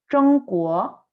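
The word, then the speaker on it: 中国: chino y quiere saberlo, no se dice nada parecido a China, se dice Zhongguo, Zhongguo, que es como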